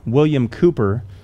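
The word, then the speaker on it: William Cowper: heard of the name william cooper most people don't recognize that pronunciation because it's spelled c-o-w-p-e-r if you've ever seen that name william cooper he's the man who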